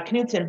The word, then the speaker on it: Knutson: my original title but a lot of people call me nut because k-n-u-t they they forgot to they don't pronounce the k so it's kind of